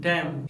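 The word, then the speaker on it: damn: इसीलिए ऐसे वर्ड को हम कहते हैं आटम, सोलेम, कालम, डैम, हिम, कंडेम, यानी इन सभी वर्ड्स में लेटर एन साइलेंट होता है।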